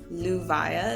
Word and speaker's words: Leuviah: And if you're a person who wants mantra meditation, a good angel to call on is Angel Luvia, is how I pronounce it, but his name is spelled Leuviah.